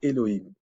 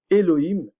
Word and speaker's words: Elohim: savoir ce que c'est Elohim Elohim enfin je le prononce à la française là et le him